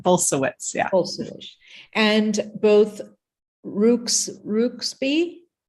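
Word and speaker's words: Bulsiewicz: butcher that word yeah it's bolsuits so it's a it's a Polish name similar to my name but bolsawitz yeah and both Rooks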